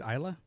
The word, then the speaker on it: Ilsa: I love Elsa. Um she kicks off her shoes and helps him escape and it's awesome. I think it's Isa. Yeah, I know. I've been saying it wrong the entire time.